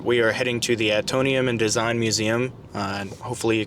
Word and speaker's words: Atomium: Tomorrow we look at the atom matrix. I gotta come from the future now and save my ass. It's Atomium.